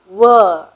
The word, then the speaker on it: were: Notice the way I pronounced were and wouldn't. W words you have to round your lips and say were, wouldn't.